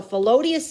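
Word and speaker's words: Philoetius: So Felodius is the other guy.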